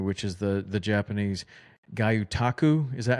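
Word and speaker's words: gyotaku: seen from you, which is the the Japanese Gutaku. Is that how you say it? Yes. Uh or it's pronounced guotaku. Guyotaku.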